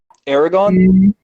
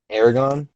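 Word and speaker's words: Eragon: okay all right 36a Ragan is that hey pronounce it Aragon Aragon a painful reminder of what fantasy cinema was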